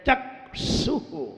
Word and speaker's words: चक्षुः: अपन चक्षु पे ऐसे बोल जाते हैं, चक्षु, चक्षु। इसकी स्पेलिंग CHAK SHUH। कैसे बोलेंगे? CHAK SHUH। कैसे बोलेंगे? चक्षु। बोलने का ढंग। और चक्षु बोल देंगे तो वो स्पेलिंग SH नहीं बनेगी, CHH बन जाएगी। इसलिए सही बोलिए, CHAK SHUH। बाद में H और लगाए, अब H भी बोलना है, विसर्ग।